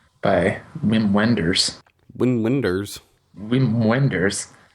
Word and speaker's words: Wim Wenders: Whim Wenders, which him being German, I want to pronounce it as Vim Venders.